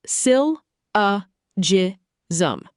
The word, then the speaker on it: syllogism: Syllogism. Pronounced sil uh ji zum.